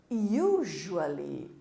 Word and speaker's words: usually: Usually or generally.